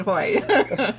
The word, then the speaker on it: Haughey: Alex, yeah, the last name was, remember to pronounce it Haughey.